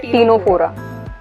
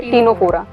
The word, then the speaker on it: Ctenophora: अब नेक्स्ट है टीनोफोरा, सी साइलेंट है, टीनोफोरा।